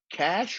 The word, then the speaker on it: cache: third row read me the word that rhymes with slash that's right cache rhymes with slash awesome